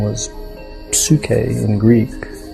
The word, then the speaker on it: psyche: That's something that it was given a name, and the name was psyche in Greek. Psyche is how we pronounce it now, and the word means soul.